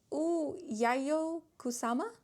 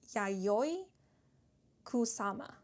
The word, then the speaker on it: Yayoi Kusama: Um, but we have Yayo Kusama. I actually want to make sure I'm pronouncing the names correctly. So, I believe it's pronounced Yayoi Kusama with the message, "Your